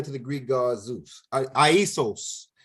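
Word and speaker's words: Ἰησοῦς: Aisos is how they say it in the Greek, Aisos.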